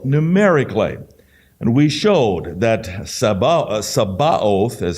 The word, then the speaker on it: Sabaoth: And we showed that Sabaoth, is how it's pronounced, armies, hosts, and multitudes, the way it's translated in the scriptures, and all of these various things it relates to.